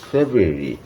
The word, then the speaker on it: February: উচ্চারণটা একটু জটিল, ফেব্রুয়ারি ফেব্রুয়ারি এই যে ভাওয়েল সাউন্ড শেষে তেমন একটা উচ্চারণ হয় না, জোরি জোরি, তাই তো, ফেব্রুয়ারি। কিন্তু জানুয়ারি জানুয়ারি, কিন্তু এখানে ফেব্রুয়ারি, একটু পার্থক্য হচ্ছে, জানুয়ারি ফেব্রুয়ারি রুরি না।